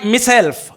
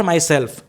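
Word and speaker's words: myself: times I feel मा मि सेल्फ इसे माय सेल्फ प्रोनाउंस नहीं करते हैं मि सेल्फ करते हैं स्पेलिंग य एम वाई माय लेकिन प्रोनाउंस करना है मि सेल्फ नॉट माइसेल्फ some times I feel मि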